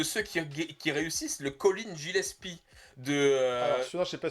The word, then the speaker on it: Gillespie: qui réussissent, le Colin Gillespie Alors, celui-là, je n'ai pas suivi... Colin Gillespie, ou Gillespie, je pense qu'on dit Ah, Gillespie, c'est ça, c'est ta prononciation est pas bonne.